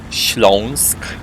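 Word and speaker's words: Śląsk: region which I'm going to treat you to schlonsk yeah good luck pronouncing that in a town called Sagan zagani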